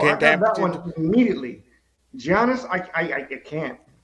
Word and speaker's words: Giannis: Giannis, I can't. Quit saying it with a G. Say it with a Y.